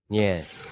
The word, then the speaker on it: 人: Chữ này phát âm là "nhân" (人).